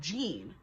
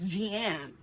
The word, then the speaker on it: Jeanne: my best friend like Jean, and I'm like, her name is not Jean, it's Jeanne, pronounce it properly.